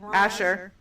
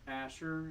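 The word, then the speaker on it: Ascher: A A Asher. Asher.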